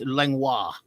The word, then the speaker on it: Langlois: It looks like Langlois, like if you spell it like Langlois, but it's Langlois.